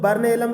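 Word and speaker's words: burnt alum: यहाँ पे T silent है दोस्तों, बर्न एलम कहते हैं, और बर्न एलम को फिटकरी के फूल के नाम से भी जाना जाता है।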